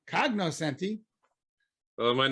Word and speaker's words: cognoscenti: Rick, the Kanyasenti say Kanyasenti and not cognoscenti.